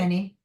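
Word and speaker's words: Ani: is that pronounced right, Annie, or did I pronounce Annie. Yep. A-N-I? Annie.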